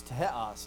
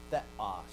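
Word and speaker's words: θεός: In the time of Christ, it was taha. It was teos, not theos. Teos.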